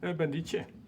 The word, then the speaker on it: Bendice: Bendies Oké. of Bendis? Ja? Hoe spreek je het uit? Bendietje. Bendietje. Ja. Oh, dat klinkt alleen maar dat klinkt Italiaans. Het is Italiaans, ja.